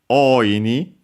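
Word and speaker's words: おおいに: After that, we have the final reading present also here, which is oini, also accent on the first more, so be careful.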